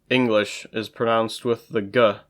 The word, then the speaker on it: Englisch: The English word, English, is pronounced with the g, but the German word English is pronounced with just the ng.